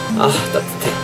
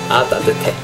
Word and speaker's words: 따뜻해: 아 따뜻해 아 따뜻해 아 따뜻해 아 따뜻해.